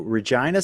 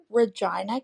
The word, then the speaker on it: Regina: queen on there from Regina, Canada, and she shouted out Regina by saying that she was from the city that rhymes with fun.